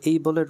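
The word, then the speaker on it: able: এখানে এইবলের উচ্চারণ অ্যাবল করে অনেকেই, অ্যাবল করা যাবে না, ঠিক আছে? এইবল বলতে হবে, এইবল, will বি এইবল টু।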